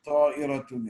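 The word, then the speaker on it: طائرة: See ta and the amza, ta'iratun. Now, sometimes if you're going to make a mispronunciation, ta'iratun, you know, and you make the amza a ha, or in your pronunciation, then you take the word.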